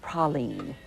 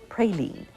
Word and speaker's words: praline: agree on one thing the pronunciation of the candy is Prine not praline most natives Scorn the